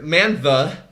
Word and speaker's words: Mantha: Manthe. He just butchered his name. I don't know why. Butch. It wasn't even like trying to hide his name. Mantha. He just mispronounced it.